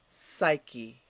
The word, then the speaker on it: psyche: parts of skins excellent next word psyche repeat psyche and what does it mean your psyche is